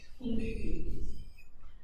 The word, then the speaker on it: gingivitis: But with those vowels, you know that I actually makes an E sound. Gingivitis.